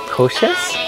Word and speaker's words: Košice: I think you're pronouncing it better. Košice?